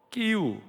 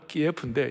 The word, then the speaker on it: 키이우: 수도 키이우, 전에 러시아식 발음은 키예프인데 이제 우리가 키이우로 하자고 그랬어요.